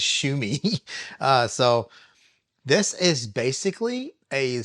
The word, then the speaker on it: Xiaomi: I've been called out in the past for that with the whole Xiaomi thing or whatever it is, but it's Shumi.